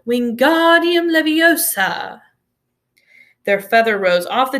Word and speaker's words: Wingardium Leviosa: having much more luck Wingardium Leviosa he shouted waving his long arms like a windmill you're saying it wrong Harry heard and Hermione snapped its Wingardium Leviosa make the gone nice and long you do it then